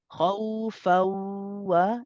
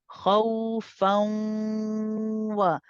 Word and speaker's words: خوفا: يدعون ربهم خوفا وطمعا Also, don't forget, as you do the idgham naqis here, it's with gunna. So I should hear not khawfa, it's khawfa. The sound is also going through the khayshum.